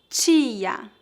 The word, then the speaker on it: tia: Diante da vogal I, o som do T é sempre ti. Veja alguns exemplos. Tia, dentista, Haiti.